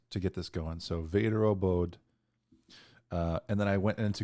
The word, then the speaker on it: Väderöbod: So I looked up some pronunciations to get this going. So Väderöbod.